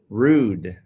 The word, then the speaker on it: Rood: and how do you say your last name rude okay so rude the thing is with you